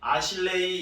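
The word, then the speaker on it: אשרי: 많이 해석이 되어지고 쓰여졌는데요 구약에서는이 복이라는 단어를 아실래 아실레이 이렇게 발음하는데 그 뜻을 보면 행복한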